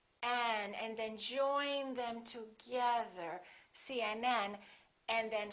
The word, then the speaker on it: CNN: The rule is we stress the last letter of an abbreviation.